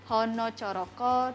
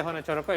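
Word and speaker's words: hanacaraka: You can pronounce it so because in So. Javanese like hono coroko, doto sawolo, podo joyonyo, moko potongo. Just like that. So you pronounce A with sort of like O.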